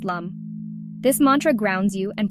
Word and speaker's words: LAM: chakras one root chakra chant lamb pronounced Lum this Mantra grounds you